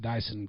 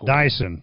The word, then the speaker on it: Diesen: recorded right yes and it's actually pronounced dyson dyson dyson kind of like mud okay that makes